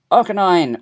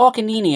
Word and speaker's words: Arcanine: Arcanine, or Arcanini as I may pronounce it, just to annoy people.